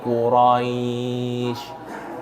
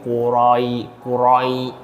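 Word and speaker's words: قريش: Liilafi Quraisy. Quraisy R ini R ini dia lembut ya bukan liilafi liilafi qurai qurai jangan ditekan jangan dikuatkan karena sifat yang seharusnya ada pada bacaan ini apa?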